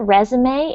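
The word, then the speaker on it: résumé: uh have write a resume very good okay so this word resume it's coming from a French word so we actually pronounce the final e that's very good me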